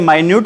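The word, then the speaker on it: minute: और मिनट आपको बेटा टाइम वाला होता है, ये मिनट। ठीक है बेटा, स्पेलिंग सेम है। एक को बेटा क्या बोलते हैं, माइन्यूट बोलते हैं, और दूसरे को क्या बोलते हैं, अभी हम मिनट बोलते हैं।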